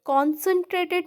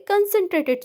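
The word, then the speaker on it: concentrated: कंसनट्रेटेड, कंसनट्रेटेड मतलब देखो, इसे हम लोग क्या बोलते हैं? कॉन्सनट्रेटेड नहीं बोलते।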